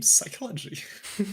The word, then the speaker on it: psychology: But you know what's a silent letter? The P in psychology.